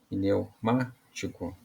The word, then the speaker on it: pneumático: separação ficou assim e na hora de pronunciar né pneumático neumático então a sílaba mais